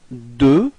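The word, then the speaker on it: deux: repeat okay so now D okay final X is not pronounced okay D repeat okay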